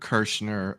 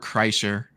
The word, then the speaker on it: Kreischer: he's like the Bert kirschner of um our horror group of YouTubers you know who Bert kirschner is no or Bert Kreischer I always say his last name wrong but he's uh he